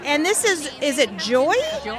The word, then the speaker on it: Joie: And this is is it Joy? Joy. Joy. It's spelled J O I E, but it's pronounced Joy.